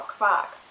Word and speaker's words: Quark: Q is always followed by U, and then it's pronounced kv, like KV in English. Kv. A German word for that would be Qualle, for example, or Quark.